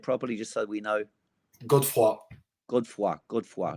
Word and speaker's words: Godefroy: your name again properly and then we'll say Godfrey but how do you say it properly just so we know good for good work good for like cold good for